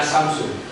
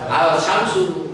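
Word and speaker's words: الشمس: Bagaimana cara kita membaca as-samsu? Jadi tidak lagi dibaca al-samsu, tapi dimasukkan ke dalam.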